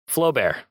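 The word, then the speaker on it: Flaubert: So, Flowbear. All right. Oh, yeah. Yeah. So, Flowbear and a letter A U. Is that how you say it? Flow bear. I don't know. It's Flow Bear.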